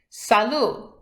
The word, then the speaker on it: salut: say hi in French salut notice that in French when something ends with a T we don't pronounce it that's why in the